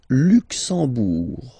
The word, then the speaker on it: Luxembourg: Le Luxembourg, okay, final G not pronounced, and then when you combine this M here, you get the sound en.